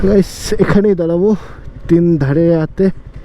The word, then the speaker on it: Tindharay: আমি তিন ধারিয়া তিন ধারিয়া বলছিলাম। আমি প্রথমে তোমাদের বলছি যে আমার এই উচ্চারণটার মধ্যে একটু গড়বড় হতে পারে। বাট আমি সিওর ছিলাম না যে তিন ধারিয়া বলে না তিন ধারায় বলে।